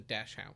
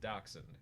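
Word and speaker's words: dachshund: looks like just baked bread and it's a dashound I want one of his evolutions be him in a little ceramic um what did you just say doxen dox it's pronounced doxen docen dashound did I find your Tom bomo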